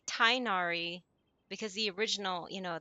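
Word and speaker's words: Tighnari: I'm surprised that since even after they switched uh English studios that they still pronounce his name as Tinari because every other language and even um people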